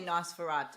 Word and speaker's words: Nosferatu: very easy I say nosfer we all say Nosferatu I know the whole thing off you see now so in any case it's spelled the same and you're probably right it's